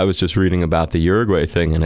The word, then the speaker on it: Uruguay: the more than 50% oddly you have Ur Uruguay uh am I pronouncing that right yes Uruguay is is legalizing it across the board but